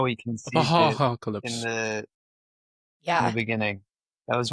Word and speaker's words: Apo.Ha-Ha.calypse: So it's basically like you're saying apocalypse, but you're just smushing haha in the middle.